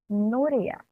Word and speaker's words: Nuria: In English or Spanish, we pronounce it as Nuria.